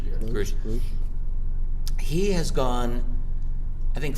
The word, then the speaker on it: Grusch: What's interesting though is this latest whistleblower, David Grusch, I think his name is pronounced Grusch.